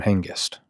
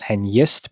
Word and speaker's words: Hengest: Um, I'm pretty sure it's pronounced henist because the g comes before the e and therefore it's pronounced year, not j.